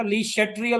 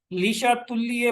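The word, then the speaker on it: Le Chatelier: वो कहते थे ये वर्ड जो है इसकी जो करेक्ट प्रोनाउंसिएशन जो है वो है लीशा तुल्य प्रिंसिपल। ये जर्मन वर्ड है।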